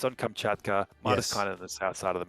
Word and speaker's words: Martiskainen: Martiskainen.